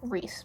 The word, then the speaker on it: Rhys: what is his name Rhys what's his name I don't know I didn't remember that because it's spelled stupid it's r-a-r-h-y-s that's stupid spell Reese r-e-e-c-e or r-e-e-s-e and be normal anyway moving on um